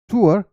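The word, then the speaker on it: tour: इस particular word का pronunciation टूर नहीं होता, या तो आप इसे पढ़ेंगे टूर, टूर या टोर, टूर या टोर।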